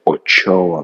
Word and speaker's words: Ochoa: His notable partners included the Ochoa brothers, Juan David, Jorge Luis, and Fabio.